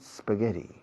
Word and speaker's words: spaghetti: Fijaos en la pronunciación de la SP de spaghetti. No pongo una E delante, no digo spaghetti. How often do you eat spaghetti?